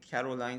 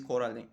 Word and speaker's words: Coraline: And she meets with some other neighbors, and all the neighbors actually get the name wrong, Caroline, something like that. But the name is Coraline.